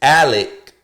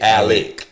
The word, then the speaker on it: Alex: The nigga name is Alec Murdaugh. Okay? Now, it's spelled Alex, but he pronounced the shit Alec.